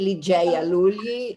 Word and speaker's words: Ligeia Lugli: with our plenary speaker i say li jaya lully and pronounce it the english way and regina from unaspie